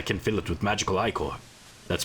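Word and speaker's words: Ichor: I can fill it with magical Iicore. That's pronounced IIcore.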